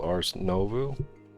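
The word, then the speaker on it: Ars Nouveau: I think it's called Ars Novu. That's how you pronounce it.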